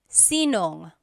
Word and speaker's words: sinong: If you have sino ang in a question, you might hear sinong.